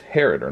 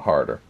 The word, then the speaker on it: Harader: So it's Harader, not Harder. P.S.